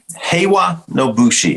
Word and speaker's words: Heiwa no Bushi: So Heiwa no Bushi, did I say it right? You said it correctly.